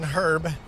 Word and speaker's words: herb: As long as we can all agree, the H in herb is silent. I'll be honest. I think I say herb mostly, but I say herbs sometimes.